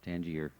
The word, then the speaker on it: Tangier: You don't pronounce the S, Tangier.